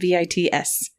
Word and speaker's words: Vitus: it looks like it was pronoun it says pronounced vits Vitz vites St vus Vitz anyways he was one